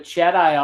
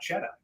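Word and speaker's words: Cedi: I'm in love with Jedi Osman Travis he's trying to say that perhaps the right way to pronounce his name is not cheddah it's Jedi the Jedi that's it Jedi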